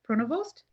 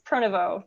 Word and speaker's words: Pronovost: Pronovost? Close. It's Pronovost. The ST is silent. Yeah, it's French name.